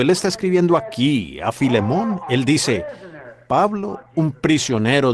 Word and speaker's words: Filemón: Así que Filemón, dijo alguien allá atrás, lo cual creo que es la pronunciación correcta.